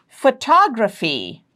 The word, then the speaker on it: photography: Third syllable from the right, photography. Photography. Third syllable from the right is toe, photography.